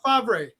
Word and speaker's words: Favre: But yeah, I mean, they didn't pronounce it. there's rumors saying that Aaron How Rodgers. do you get Favre out of FAVRE?